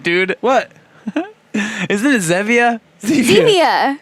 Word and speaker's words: Zevia: If you don't want to do that, grab a Zevia. You know. Oh my God, dude. What? Isn't it Zevia? Zevia. Is it Zevia? Like stevia, the sweetener.